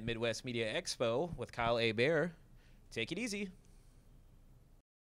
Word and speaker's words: Hebert: right i'm at kyle a bear which is KY le heb ERT it's spelt like hebert's but it's pronounced a bear so think a bear